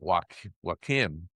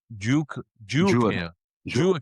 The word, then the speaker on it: Joaquim: know uh the United States but I was pronouncing it wim uh but but it's but it but it's pronounced Juke Jim Jim.